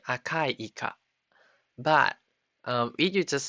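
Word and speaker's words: いか: It's not eka. It's ika. I-K-A.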